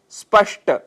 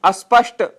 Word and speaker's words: स्पष्ट: दोष माना गया है शब्द है स्पष्ट जिसकी जगह हम अस्पष्ट यह उच्चारण कर बैठते हैं स्थिति स्थिति इसके लिए